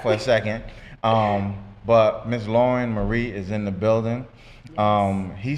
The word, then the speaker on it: Lauran Marie: I have right now sitting next to me, Lauran Marie. Lauran Marie. Lauren? Yes. Okay, I It's don't just know why. it's just spelled with an A instead of an E, but it's Lauran Marie.